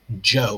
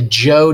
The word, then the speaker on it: Zhou: That's how you pronounce that, Zhou, like a J. The Zhou dynasty, which was similarly decentralized.